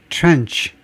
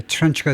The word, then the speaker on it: tranche: First tranche 또는 tranche라고도 발음하는데요. tranche, 원래 불어에서 나온 건데, 그래서 불어 스타일로는 tranche가 되고 영국 스타일로는 이제 trench가 되는데, 포션이라는 말이에요.